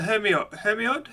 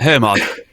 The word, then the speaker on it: Hermod: The Hermiod, is that how you pronounce it? That's the one that's done by Squarp. Hermod.